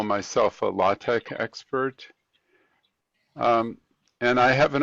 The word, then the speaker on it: LaTeX: I guess my involvement is with professional publishing as a consultant and I would call myself a LaTeX expert.